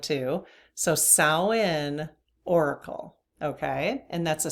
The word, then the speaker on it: Samhain: Samhain is how you pronounce that, believe it or not. I guess the M is silent, but that's what Google says.